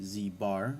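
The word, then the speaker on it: z̄: the conjugate z bar this is pronounced z bar and it's just a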